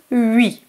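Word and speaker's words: huit: Here, 8 is pronounced 8 because it's followed by a consonant.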